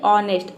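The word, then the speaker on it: honest: ह प्रोनाउंस करते हैं लेकिन देख लीजिए ऑनेस्ट में ह का साउंड नहीं है मतलब कि यहां पे ए लेटर साइलेंट है ऑनेस्ट मतलब होता है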